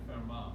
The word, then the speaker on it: Fermat: So Blaise Pascal and Pierre de Fermat, E-T at the end is silent.